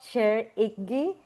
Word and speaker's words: Shir Ibgui: The incredible Shir Ibgui. Is that how you pronounce it? I hope I said it right. Yeah. Shir um, Ibgui, you were great.